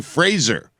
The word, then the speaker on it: Fraser: again if you can if your last name if you spell Frasier with a Z then I call you Frazier if you spell it with an S I call you Fraser right is that fair